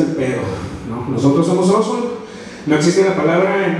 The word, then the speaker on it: Ossotl: Pero nos gustó y al final de cuentas el TL no se pronuncia, es Ozul. Y el nombre es Ozul por eso, ¿no?